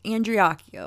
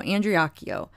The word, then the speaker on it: Andreacchio: I know I keep saying his name wrong. I think it's Andreacchio. I think that's how you say it, because I heard the mother say it that way. So Andreacchio.